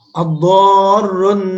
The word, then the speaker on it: الضار: Ad-dharrun nafi'. Ad-dharr bacanya dengan ro, hati-hati jangan sampai dibaca dengan lam.